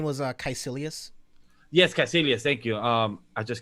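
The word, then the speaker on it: Kaecilius: i believe his name was uh caissilius yes cassilius thank you um i just can't very pronounce it uh unless somebody else say it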